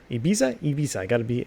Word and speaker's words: Ibiza: Ibiza.